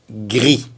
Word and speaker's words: gris: Et féminin pluriel, on ajoute le S qui ne se prononce pas évidemment. Blanche. Blanc. Blanc. Blanche. Blanche. Une autre couleur, le gris.